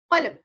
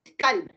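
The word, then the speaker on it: قلب: is this word called qalb. Qalb from the heavy qaf. That means our heart. But if you pronounce it kalb, that becomes a dog.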